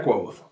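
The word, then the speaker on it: Kvothe: Estos libros de fantasía narran la historia de Quoth. Si lo pronuncias de cualquier otra manera, lo estás pronunciando mal, porque el propio personaje dice cómo se pronuncia. Leyendo textualmente. Me llamo Quoth, que se pronuncia Quoth.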